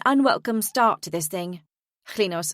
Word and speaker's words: Klinos: The brunette woman introduces herself next, pronouncing the first sound of her name with a liquid noise somewhere between a C and an L.